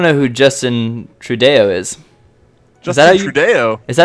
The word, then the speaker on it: Trudeau: Trudeau? Is that how you pronounce it, or? It's kind of like the Trudeau, bow way. Trudeau, there you go. It'd be like a bow, yeah. B-E-A-U. So, dough. Trudeau.